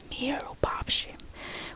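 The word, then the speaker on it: mirupafshim: Like seam. Like when you seam something, seam. Or when you say see. It's the same right here.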